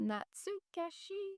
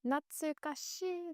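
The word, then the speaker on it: 懐かしい: How to Not pronounce? natsukashii. Natsukashii. Natsukashii.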